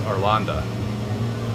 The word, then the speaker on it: Arlanda: ESSA, also known as, just had this, Stockholm, Sweden, but it's Arlanda. I got that pronunciation right for that airport.